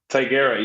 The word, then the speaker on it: Tigera: So, am I getting the pronunciation of Tigera right? Tigera, yes.